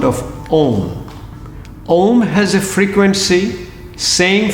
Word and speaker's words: Om: You breathe out first, take a deep breath in, Then the Om sound has three components. A-U-M. A-U-Ma.